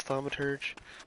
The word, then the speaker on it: thaumaturge: um a tu orgy I believe it's thaumaturge by the way there's